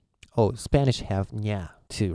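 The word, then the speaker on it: ニャ: It's nya, which might be difficult for you to pronounce.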